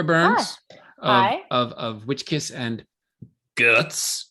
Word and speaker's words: GUHTS: of WitchKiss and GUHTS, which is how I've been saying it. That's the proper way to say it. Is it? Like guts. GUHTS, right? Yeah. You've got the H in there.